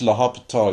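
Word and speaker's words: L'Hôpital: you pronounce it really it's pronounced La hopital usually even though it's spelled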